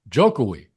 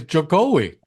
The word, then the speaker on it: Jokowi: So I always thought that his cool portmanteau nickname was pronounced Jokowi. Oh, what is it? Jokowi? Actually, it's Jokowi.